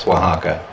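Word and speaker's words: Oaxaca: In case you've ever wondered, how do you say O A Ca in Spanish? It's Wajaka.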